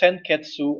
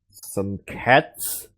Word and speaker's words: Senketsu: some cats Yeah, they and pronounce it Jun Senketsu cats. and Junketsu. While that is not 100% wrong, they seem to forget the U behind each of those names.